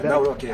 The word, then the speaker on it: Nawrocki: Yeah, Nawrocki.